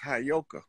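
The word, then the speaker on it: heyoka: like I know you that word is properly pronounced hayoka the hayoka is the priest for that to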